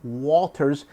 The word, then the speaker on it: Walters: I guess some people were saying I wasn't pronouncing the L.